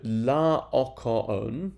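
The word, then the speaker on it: Laocoön: is leokowon okay and notice that his name is actually four separate syllables on and that's quite important when it comes to thinking about the rhythm of these lines uh for the scansion exercises that the IB asks you to do so la ocaon four syllables um and then in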